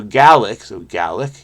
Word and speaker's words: Gaelic: G as in guy. A as in bad, or a as in bad. See, the bad is not universal. I say bad, but I have a feeling it's bad. So this is ga.